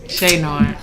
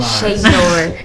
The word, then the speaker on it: Che'Noir: How you say that? Shay Nor. Okay, sorry. I'm sorry, y'all. I just like I just let it roll off my tongue naturally, you know, but I'm going to say it right. Shay Nor.